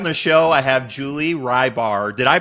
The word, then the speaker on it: Hribar: last name right it's rebar re okay do a lot of people butcher it oh yes you actually did pretty good so and the H is silent right I mean there's